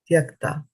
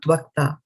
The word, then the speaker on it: tyakta: It's not tvakta, it is Y. It is the letter Y, not the letter V, right? So sorry, typo here. So tvak versus tvak means skin. And tyakta means to give up.